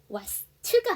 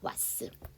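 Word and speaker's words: what's: 때문에 S 생략하지 않습니다 그다음에 t s 나왔다고 해서 츠발음 하시는 경우가 있는데요 그렇게 하지 않고 t 발음 받침 넣으시고 S 사운드 단독으로 빼 주세요 자 그래서 와트가 아니고요 왓스 자 두 번째 문장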